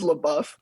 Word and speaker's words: LaBeouf: his name shia labeouf eric definitely eric definitely said it wrong very important it's la buff i say it like